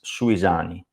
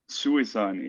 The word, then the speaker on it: Suisani: The actual pronunciation is Suisani. Suisani.